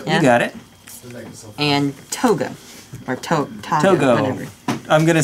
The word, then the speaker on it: Toggo: And Toga, or Toggo. Whatever. I'm gonna say Toggo.